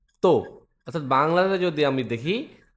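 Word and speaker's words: た: চতুর্থ লাইন যেটা হচ্ছে তা চি সু তে তৎ বাংলাতে যদি আমি দেখি তা চি সু তে এটার উচ্চারণটা দেখি।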